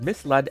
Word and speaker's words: misled: misled the reason why this happens is because misled ends in the letters Ed so my brain